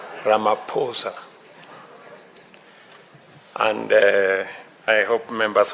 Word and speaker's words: Ramaphosa: Your excellency, my brother, President Sri Laposa, he just explained to me that the correct pronunciation is not what everybody else has been saying. It is Ramaposa and uh I hope members of my delegation have have picked it up.